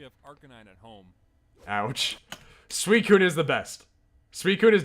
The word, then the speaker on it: Suicune: obsessing Also, over as a kid, Suicune. I would pronounce this Pokemon as Sushween.